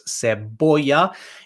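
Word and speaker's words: cebolla: la seboya la seboya remember when c is followed by an e it's an s sound so it's seboya and double l makes the y sound so la boya okay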